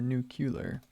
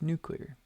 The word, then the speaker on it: nuclear: the nuclear option again it's a nuclear or nucular spelled nuclear yeah its nuclear yeah that's right I said it right correct right right